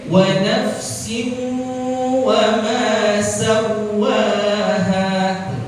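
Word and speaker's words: سَوَّاهَا: Jadi bacanya wa nafsin wa ma sawwaha. Yang kedua enggak dibaca sawwaha, sawwaha, cuma dibaca tasydid aja tanpa gunnah.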